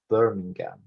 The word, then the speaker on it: Birmingham: to birmingham birmingham the the pronunciation is different it's birmingham now comes from the